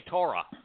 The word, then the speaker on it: Torah: You know, the O sound in Torah is from a Waw.